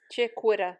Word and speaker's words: chiquita: It's Chiquita.